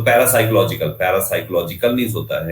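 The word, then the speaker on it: parapsychological: Psycho में आपका जो P होता है वो साइलेंट होता है, तो PSY, psycho, CHO, psycho, logical, LOGI, logical, साइकोलॉजिकल। तो पैरासाइकोलॉजिकल, पैरासाइकोलॉजिकल मींस होता है लिखा हुआ है यहाँ पे कि परामनोवैज्ञानिक पैरासाइकोलॉजिकल।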